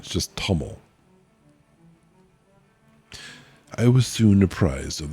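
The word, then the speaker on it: Ptomel: it into English, Lurquest Paml. Jed. Jed being his title. Lorquest Paml. Or if the P is silent, just TML.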